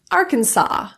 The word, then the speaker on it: Arkansas: Arkansas, the second S.